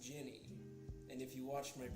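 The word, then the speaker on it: djinni: It's pronounced Ginny, and if you watched my previous stream, you would know that.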